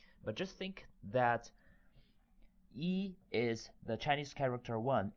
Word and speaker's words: 一: it's the easiest so the pronunciation is very close to the first half part of English word easy remember one Chinese character